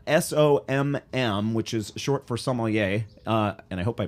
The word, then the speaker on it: sommelier: Jason, are we pronouncing that correctly, sommelier? Yeah, sommelier. Yeah, that's it's not Somalian.